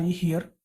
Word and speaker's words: high: Next है HI हाय मतलब नमस्ते, और HIGH हाय, यहाँ पे GH फिर से साइलेंट है, मतलब हाय मतलब ऊंचा।